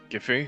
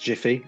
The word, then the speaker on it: Giffy: Alright, Giffy. I think it's pronounced Jiffy, actually.